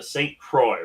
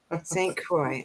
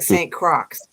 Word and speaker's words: Saint Croix: to pronounce it but it's the Saint Croix right St Croix it looks like Saint Crocs yeah Harry Potter and the horcruxes every time I see that name and stuff and so it's good to know how to pronounce it properly yeah and what it what it means is Santa Cruz so it's Saint cross really so that's the it's French for Saint cross awesome so yeah thank